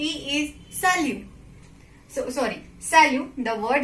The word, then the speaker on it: salut: So we will not pronounce. It will not be salute. It will be salut.